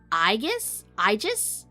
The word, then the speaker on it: Aegis: The game pronounces it Aegis, but technically all are correct. I feel like I'm gonna say Aegis.